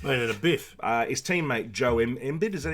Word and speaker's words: Embiid: His teammate Joe Embiid, is that how you pronounce his name? Embiid? Embiid? Yeah. Yeah, that's it. Embiid.